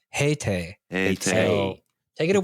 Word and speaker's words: Haitai: you just pronounced Looks like- it correctly. No, it's because in English it's Haitai, Yeah. but in Hangul it's Heite.